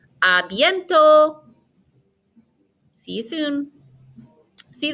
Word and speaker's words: à bientôt: Notice we're not pronouncing the T on the end, so it ends in an O sound. A bientôt.